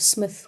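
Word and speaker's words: Psmith: and the adventures of Smith with the silent P but um it's definitely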